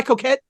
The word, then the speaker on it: Coquette: Is it Kill My Coquette? Am I pronouncing it right? Yeah, coquette is French for flirt.